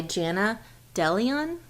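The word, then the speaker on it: Jana DeLeon: the ghost in law series and it's by Jenna DeLeon that's how you say her name the first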